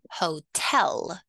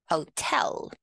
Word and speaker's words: hotel: of the word hotel we put the stress on the second syllable so one more time hotel hotel good job I had